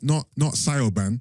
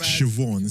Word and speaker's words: Siobhan: Not Sioban. No, Sioban. But Siobhan. See, man knows, and I know the pronunciations.